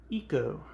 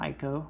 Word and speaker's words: Ico: back in 2001 i always knew oh it's eco it's not ico i always knew that and i still remember going to like game stores and hearing like the the staff people saying aiko and be like those idiots it's eco rhymes